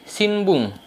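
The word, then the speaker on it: 新聞: Lalu ketika di belakangnya dikasih kanji aida kayak gitu, bacanya beda jadi shinbun, yang artinya itu koran.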